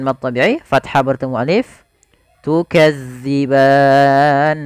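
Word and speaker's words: تُكَذِّبَانِ: thaii fathah bertemu Alif tukadziban hati-hati tukzi jangan diganti dengan Z ban nah ini Mat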